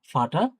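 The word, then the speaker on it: Vater: ফাও আছে, ফাটা, ফাও, আ, টে, এ, এর, ফাটা। হ্যাঁ, ফাটা। মানে এটা অনেকটা, এই যে এরটা থাকে, এটা অনেকটা উচ্চারণে আসে না, ফাটা।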